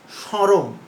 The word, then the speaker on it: স্মরণ: তাহলে দেখো স্মরণ, উচ্চারণটা কি? স্মরণ। তাহলে স্মরণও নয়, স্মরণ। তাহলে এখানে নাসিক্য, কিঞ্চিত নাসিক্য ব্যবহার হচ্ছে বলে এটিকে বলা হচ্ছে সানুনাসিক উচ্চারণ।